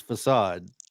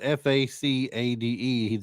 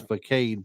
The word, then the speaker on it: facade: about still bade is not the word it's facade but it's spelled f a c a d e you would think it's faade probably so for those of you who are